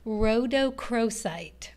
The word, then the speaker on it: rhodochrosite: Yeah, this is called, let's pronounce this correctly, rhodochrosite.